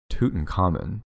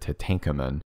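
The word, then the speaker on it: Tutankhamun: tut but yeah it's i think it's tootin common when i was a kid i in my head i pronounced it to tankaman and then i watched you know a documentary or something tootin common i think that is better than whatever tooting you're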